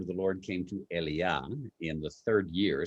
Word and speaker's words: Elijah: So when we say Elijah in English, you can say Eliah, like my youngest. Eliah is the correct pronunciation in Hebrew.